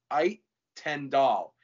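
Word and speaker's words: Uijtendaal: His first name is Seem, and the last name is Ait Tendal.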